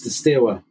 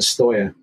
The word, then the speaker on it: Steaua: over the years have pronounced pronounced it Steaua which is how it reads to us in English s t e s t e a u a. And I think that's that's stuck. But the actual pronunciation in in Romanian is Steaua Bucharest because apparently Steaua, if